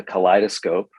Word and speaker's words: Kaleidoscope: the companion is called the Kaleidoscope spelled like Collide o scope it's just a 14-day